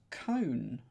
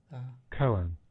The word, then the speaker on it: koan: There you go, that's a cone. Is that how it may not be said like that? Koan. Koan. Sorry, Koan. That's how it's said.